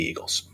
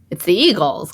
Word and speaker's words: Eagles: It's the Eagles, clearly. But it's pronounced Eagles, Iggles.